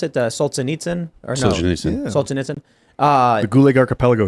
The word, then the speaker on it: Solzhenitsyn: It's how do you pronounce it? Solzhenitsyn or no? Solzhenitsyn.